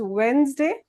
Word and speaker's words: Wednesday: So this is how we pronounce Wednesday. There is no D when we speak.